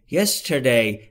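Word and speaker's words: yesterday: دوستان تلفظ درستش نگفتم ستر در انگلیسی به این صورت تلفظ میشه زبون جمع میشه نزدیک سقف دهان و میگیم r مثل فارسی نیست در فارسی ما آ رو اینجوری تلفظ می‌کنیم میگیم ر ر حالت مسلسلی اما در انگلیسی زبون جمع میشه نزدیک سقف دهان میشه یستر وقتی که سریع میشه یستر یستر یعنی دیروز ابسنت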